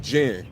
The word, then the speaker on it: Jinn: Like the JIN, Jinn, spirit, demons and spirits, like gin and juice.